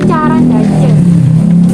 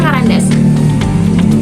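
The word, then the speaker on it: Caran d'Ache: Tapi tulisannya dia itu carandaja. Bacanya karandas.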